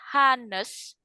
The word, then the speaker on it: honest: Tulisannya honest. Oke, bacanya kan honest. Kira-kira dia pakai e atau n? E atau n? N. Karena kan bacanya honest. Hanya nggak dibaca.